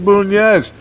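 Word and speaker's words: Bunes: Okay, I've been calling him Burns the entire time. Okay. Felipe Bunez. That's my bad. I apologize. Felipe Bunez.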